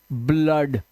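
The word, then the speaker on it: blood: है ये क्या है ब्लड आ की आवाज ब्लड यहां पे देखो फ्लड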